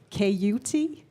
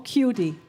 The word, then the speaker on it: CAYOOTEE: Yes, so just to not make any more confusion about my name, it's pronounced CAYOOTEE or cutie. I love you if you say CAYOOTEE. I like you if you say cutie.